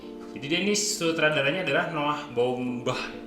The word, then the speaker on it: Baumbach: Jadi dia ini sutradaranya adalah Noah Baumbach bacanya. Ya, Noah Baumbach.